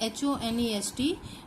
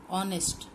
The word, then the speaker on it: honest: a will come so honest man spelling a h-o-n-e-s-t but how we pronounce it honest honest okay so the sound the starting sound